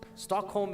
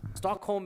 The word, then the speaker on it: Stockholm: Stockholm is.